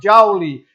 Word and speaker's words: Joule: jaure que equivale a Newton x metro a pronúncia é o James prescott Joule então trabalho é oferecido e fornecido em Joule